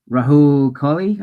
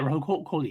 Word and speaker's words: Rahul Kohli: Because like I always thought Rahil. I always get his name wrong. The guy that hangs out with Alana Pierce a lot. Rahul Kohli, I think is his name.